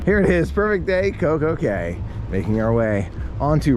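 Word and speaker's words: CocoCay: it's okay it's understandable considering that i know castaway key this is coke okay they're spelled the same way yeah independence on my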